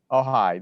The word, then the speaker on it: Ojai: I'm not even sure how they pronounced it. Oh, Uh, hi. Ojai.